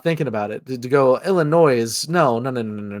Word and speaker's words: Illinois: And I was like, "Uh, now now to pronounce now to not pronounce the S, we are capitulating to the French.